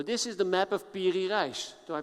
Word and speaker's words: Piri Reis: map making so this is the map of piri Reis so I pronounced it right yeah beauty - yes he